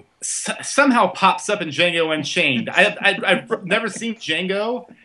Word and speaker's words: Django: up in Django Unchained.